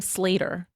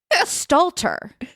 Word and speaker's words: Stalter: You pronounce her last name Slater, correct? Yeah. Megan Slater. Wait, Me Slater. Is that wrong? Sorry, I'm actually having eight strokes today. Stalter. Stalter. Who's Slater?